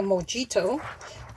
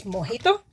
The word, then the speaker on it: mojito: am getting ready to finish my moito the way uh you would pronounce it in English but in Spanish it's mojito so I'm Wasing some